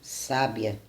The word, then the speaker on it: sábia: Se fizermos cair o acento na primeira sílaba, teremos a palavra sábia, ou seja, teremos um adjetivo.